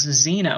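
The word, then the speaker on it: Xeno: occupants we call themselves Zeno and of course the people who would record that spell it as ze and oh well that actually you know is more like Zeno XE and Oh which of course means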